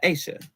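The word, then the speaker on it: Aysha: Split the name between the Y and the S in it. Yeah. Make sure it's Sha. So it's really just like the letter A and Sha. Aisha.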